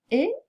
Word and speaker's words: et: est interdite c'est la la liaison avec la conjonction E je dis il entre et il sort je ne peux pas dire il entre et il sort c'est très incorrect je dis je voudrais